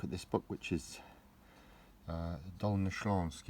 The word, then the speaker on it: Dolnośląskie: So hello today, today I'd like to take a look at this book, which is Dolnośląskie, it's pronounced.